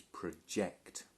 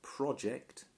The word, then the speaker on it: project: Now this is a verb, so notice the pronunciation is project. Okay, when it's a noun we pronounce it project, but when we talk about the verb, the image was projected.